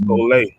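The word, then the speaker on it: σχολή: Right, and that Greek word is pronounced skole.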